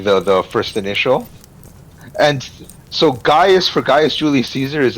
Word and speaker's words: Gaius: the Roman alphabet later, so the archaic spelling of Gaius and Gnaeus is Caius and then Cnaeus, but it was never pronounced that way. It was always pronounced Gaius. It was just spelled with a C.